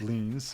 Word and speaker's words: liens: couldn't they afford it i always hate this word and i don't know how to say it but liens liens liens yeah yes so you gotta watch for liens i always i every time i see it i say it wrong but it leans yeah yeah so big make